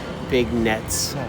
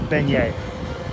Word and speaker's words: beignet: my lifetime okay so what is the big nets it's a beignet it's a beignet let's spell bagnets you're french say it right only by